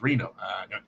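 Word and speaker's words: Rino: Is it Rhino or Reno? Or is it Rhino? Reno. It's Reno.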